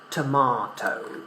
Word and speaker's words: tomato: So the pronunciation in British English is tomato.